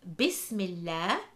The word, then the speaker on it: Bismillah: We have the word Bismillah, where the Lam is read light in the word Allah.